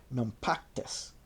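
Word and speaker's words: Naupactus: For they were in no doubt that the Romans would return at the start of spring to attack Nactus, spelled N A U P A C T-Us.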